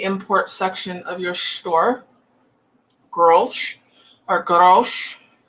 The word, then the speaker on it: Grolsch: If you see this in the import section of your store, grosh or grosh, how do you pronounce that? Grosh. It's Dutch. It's not Czech, the name.